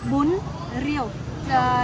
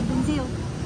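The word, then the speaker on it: bún riêu: The R is a Z. Rio, actually. But in Vietnamese, we don't usually pronounce R in the north. We pronounce R. R? This one. Z. No, Bun. Bun. Actually, to pronounce correctly, it's bun rio. In daily life, we never say bun rio. We say bunzio.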